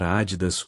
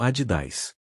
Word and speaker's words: Adidas: Dependendo de onde você mora, pode pronunciar Adidas ou Adidas.